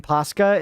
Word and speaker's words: Paska: The pa in Paska is pronounced like pa in papa.